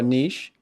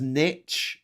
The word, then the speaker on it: niche: Oh, a niche. Oh yes. Good. You said it right. It's okay. I'll let you off. So Al Gore says niche in the movie An Inconvenient Truth.